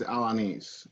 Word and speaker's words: Alaniz: last name for real my last name is alanis i know it's a little difficult yes so